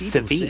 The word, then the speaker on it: Sevi: Uh, maybe Professor Sevi. Professor Sevi, maybe. Oh, so it's pronounced CVI.